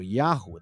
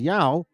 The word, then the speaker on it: Yahu: The name of our Father, Yahweh, or Yahu, the way it's pronounced. Some of you guys will read it as Yahweh if you put the H silent.